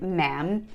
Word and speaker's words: ma'am: the queen first time second time ma'am rhymes with jam but you would always